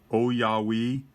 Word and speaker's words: Ouyawei: or an automatic watch believe you pronounce the name o yah we and it is a